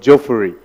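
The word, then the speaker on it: Juffureh: So if you have time, also check out a village called Jofuri. Is it called Jofuri? Is that how you pronounce it? Yes, go there and see this history, yeah?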